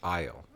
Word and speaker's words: aisle: Aisle. Isle. It's pronounced aisle, like a grocery aisle.